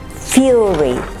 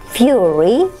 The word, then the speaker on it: fury: Query does not rhyme with very, nor does fury sound like berry. Query does not rhyme with very, nor does fury sound like bury.